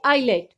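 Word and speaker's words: eyelet: Like आइलेट, island, इसमें भी आप देख रहे हैं कि I और L के बीच S है तो S की वॉइस नहीं आएगी, S साइलेंट होगा, हम बोलेंगे आइलेट।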